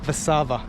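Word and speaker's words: Warszawa: and uh sophisticated city warsaw is or vasava as the locals say let's go and have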